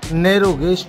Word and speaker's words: नैरो गेज: toy train कहते हैं लेकिन सही जो उच्चारण है इसका वह है नरो गेज ट्रेन साथियों इसका सफर बहुत